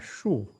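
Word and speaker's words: 竖: Nada yang kedua banyak digunakan adalah shu. Nah, ini yang pakai lidah dibalik.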